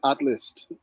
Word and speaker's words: ATHLST: how you pronounce this atlas yeah without the vowels but uh yeah without